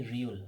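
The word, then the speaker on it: 리을: ये है जी रियोल, री उल, सही है। इसको पढ़ते हैं ये री उल, सही है, ये री उल है, सही है।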